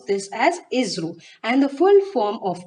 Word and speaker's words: ISRO: that is called as Israel you have to pronounce this as Israel and the full form of ISRO is Indian